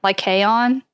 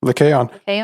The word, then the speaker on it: Lycaon: I don't really know how to pronounce it. It's Lycaon. Oh. Lycaon. Lycaon.